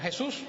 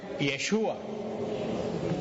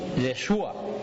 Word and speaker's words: Yeshua: Pero como en hebreo no se pronuncia Jesús, en hebreo se pronuncia Yeshua. Yeshua.